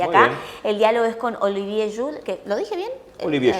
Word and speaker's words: Olivier Schuhl: Estamos ahí entre Francia y Alemania, por eso se escribe como alemán, pero se pronuncia como francés.